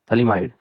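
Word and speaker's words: phthalimide: पहले मैं थैलेमाइड लूंगा, थैलेमाइड TH साइलेंट है, ठीक है, आप थैलेमाइड कह रहे हो, कोई प्रॉब्लम नहीं है।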